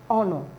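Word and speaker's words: honour: is a honor no the H is not pronounced but here it's pronounced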